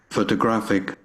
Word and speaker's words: photographic: Let's move to the last word. Photographic. Photographic. Again. Photographic. Photographic. So we have here the third syllable is stressed more strongly and more powerfully than the others.